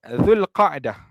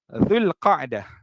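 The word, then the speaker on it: ذو القعدة: Zulkaedah ataupun bahasa Melayu kita sebut sebagai Zulkaedah kan. Kita bahasa Melayu sebut Zulkaedah. Tapi ejaan yang betul menurut hadis menurut hadis Rasulullah Sallallahualaihiwasallam iaitu ejaan dia adalah Zulkaedah. Zulkaah kan itu cara sebutnya dalam bahasa Arab Zulkaah.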